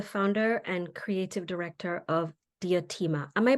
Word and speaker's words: Diotima: She is the founder and creative director of Diotima. Am I pronouncing that correctly?